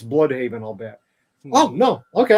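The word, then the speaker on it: Blüdhaven: And I think he brings that to Bloodhaven in the way that they do him here.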